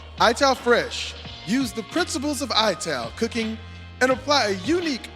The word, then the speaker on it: ital: It Ital pronounced ital is a way of cooking synonymous with Rastafari using ingredients from the earth grown naturally.